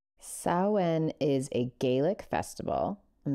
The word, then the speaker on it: Samhain: i n but it's a Celtic tradition that's pronounced saen saen is a Gaelic Festival on the 1st of